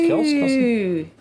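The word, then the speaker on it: Kelce: How's it pronounced? Kelsey.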